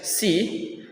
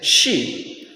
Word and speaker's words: she: For example, the wrong pronunciation is she see, but the correct pronunciation is she.